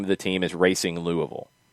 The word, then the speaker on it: Racing: of the team is racing louisville right i did see somebody say that they're they're trying to go with rossing um which would be a spanish pronunciation of this is that gonna fly